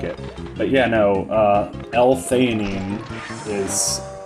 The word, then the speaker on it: L-theanine: Some of these, energy drinks today, they have caffeine, but they also have L-theanine, which is like an amino acid. I've also heard it pronounced L-theanine, but that sounds stupid.